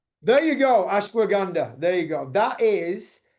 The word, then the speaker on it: ashwagandha: I've butchered I know I've butchered it. I know I've I know that I've not said it correct. Ashander, I think it is. Or can you say it better than me? Okay. Ashwag. Ashwagandha.